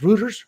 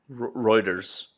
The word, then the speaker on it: Reuters: Rutters routers, how you say it? Reuters.